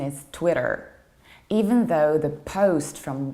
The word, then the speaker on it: Twitter: how about this one it is not Twitter or Twitter this is Twitter an American accent is Twitter even though the post